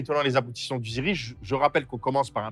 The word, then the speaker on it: Zyrri: Alors, c'est dans ce cadre-là que le Ziri a été créé. Donc le Ziri, c'est comme ça que ça s'appelle, c'est la bonne prononciation en Mori du Burkina.